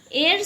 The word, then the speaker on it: heir: Heir spelling A-I-R and H-E-I-R. Two spellings are given. Correct spelling will be H-E-I-R. This heir, H is silent here.